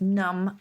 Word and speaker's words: numb: And we owe the silent B to the fact that centuries ago our ancestors did actually pronounce this B.